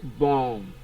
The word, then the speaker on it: bomb: While option D is pronounced as bomb. The letter B here is also silent, so it's short O.